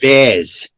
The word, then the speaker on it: Vaz: it's pronounced Vaz.